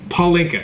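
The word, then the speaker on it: pálinka: Freedom, when you were out in Budapest, you wanted to bring out Palinka, is how it's pronounced. Palinka, yeah.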